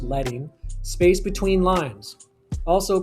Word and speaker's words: leading: Number two, leading, sorry, letting actually it's pronounced letting space between lines, also called line spacing.